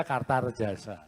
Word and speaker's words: Kartaredjasa: pantes-pantesnya tambahi so kartarjasa karena so tulisannya a bacanya kartarjasa jadi ya sudahlah saya